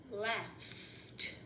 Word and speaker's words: laughed: The one where ed just sounds like a T is laughed.